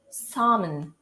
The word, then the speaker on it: salmon: but it's actually salmon, salmon, salmon. It's not salmon, all right? You don't have this L right here.